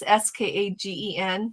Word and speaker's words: Skagen: Skyen. Skyen. It's Skagen, Denmark.